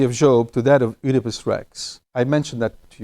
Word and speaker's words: Oedipus: Oedipus, how do you say that?